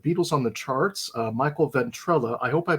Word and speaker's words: Ventrella: This time we've got an interview with the author of The Beatles on the Charts, Michael Ventrella. I hope I pronounced that correctly.